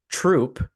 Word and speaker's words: Throop: off a street called troop so it's pronounced troop like a military troop but it's spelled Throop T HR o o